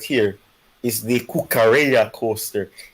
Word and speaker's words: Cucurella: right here is the kukarea coaster it's muy bien muy excelente oh and we've been the whole day i've been pronouncing it cookerella and thank you joshua then catch that and